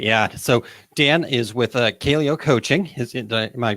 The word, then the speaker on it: Kaleo: So Dan is with Kaleo Coaching. Am I pronouncing that correctly?